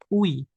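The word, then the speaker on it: 의: Jika dia lokasinya ada di depan di sini teman-teman dia dibacanya ui. Ui. Ada yang nyebutin I juga. Jadi tapi kalau UI ya ini bacanya UI. Tapi kalau dia posisinya itu ada di jinnya dipindah ke sini, I-nya ini dipindah ke sini ya. Ini bunyinya bukan Ui, tapi I.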